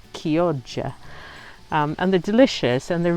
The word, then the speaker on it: Chioggia: It's Chioggia or Chiogggia, but it's actually pronounced Chioggia.